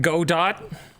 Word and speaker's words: Godot: people have made I always forget how to pronounce it how do you say it Dan what go dot Godot Godot okay sure um some people have